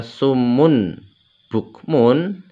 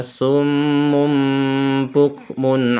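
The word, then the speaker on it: صُمٌّ بُكْمٌ: contoh ayatnya ya Jadi tidak dibaca sumun bukmun tapi dibaca summumukmun umyun fahum la yarjiun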